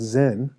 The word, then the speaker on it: Zen: Chan is the Chinese pronunciation of sudden awakening, which the Japanese pronounce Zen.